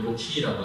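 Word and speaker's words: RoCE: 보통 ROC, 제가 이제 영어 발음을 못해서 제 외국인 친구한테 물어봤더니 로키라고 하더라고요.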